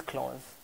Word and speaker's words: Claus: sit for how Santa Claus but the right pronunciation is close what does close sound